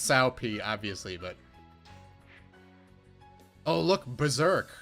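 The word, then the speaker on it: Cao Pi: His son's name is Cow P. I'm not joking. It's pronounced Sao P, obviously, but...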